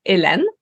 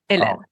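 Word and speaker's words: Hélène: Okay, so the French way to say my name is Helene. And the way to remember about it is like the letter L and the letter N. Helene.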